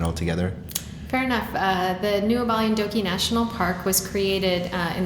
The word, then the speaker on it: Goualougo: You have a relatively new field site, the Goualogo, can you pronounce it for me? Goualogo Triangle.